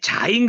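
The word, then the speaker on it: זַיִן: 하죠 수행 그래서 요거 자인 그랬으니까 발음은 뭐예요 지긋하고 지구 발음 이게 발음을 한번씩 해봐야지 알게 돼요 섞을요 자인 할 때 자인 날 때 맨 첫 번째 소리가 음가예요 음가 그런 모습으로 우리가 이해를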